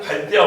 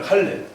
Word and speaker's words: 칼레: 일치하는 것인데, 과연 여기를 갈대아 우르라고 부를 수 있냐? 그 이야기를 하려고 합니다. 자, 우리 성경에 보면은 갈대아로 되는데요, 영어식 발음입니다. 예, 갈대아는 영어식 발음이고 원래 본명은 칼레입니다. 칼레.